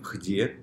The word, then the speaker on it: где: Мы пишем где, где, а произносим хде.